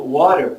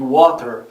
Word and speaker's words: water: Você vai ter pronúncias do britânico e do americano, como por exemplo water, que é mais comum para os americanos, e water, que é mais comum para os britânicos.